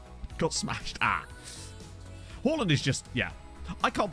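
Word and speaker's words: Haaland: yeah pretty soon his name is pronounce Holland um not Harland because it's two A's which is which is an o sound in Norwegian and other languages like that oh yeah manage first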